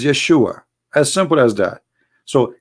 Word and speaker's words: Yeshua: The correct word in the Hebrew is Yeshua.